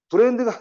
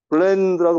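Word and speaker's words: blend: 블렌드 bl로 바뀌면 얘가 싱거운 그런 뜻입니다 블렌드 브랜드가 아니고 자꾸 블렌드 얘는 브랜드 이렇게 블렌드라고 바로 가셔야 돼요 블렌드 자 그 다음에 달다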